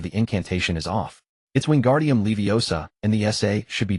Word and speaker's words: Wingardium Leviosa: Your pronunciation of the incantation is off. It's<unk> wingardium leiosa, and the essay should be drawn out long and clear.